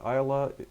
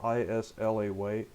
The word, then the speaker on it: Islay: Isla is spelled I-S-L-A-Y, I-S-L-A-Y. A lot of people would think it's Islay or Islay or something like that, but it's actually Isla.